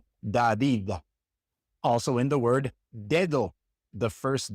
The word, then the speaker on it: dedo: When the D comes at the beginning of a word, it's pronounced like the D in English, d, d. Like in the name David, David. That's David in Spanish, David. Or in the word dedo. Dedo means finger, dedo. That D at the beginning is pronounced like the D in English, David, dedo.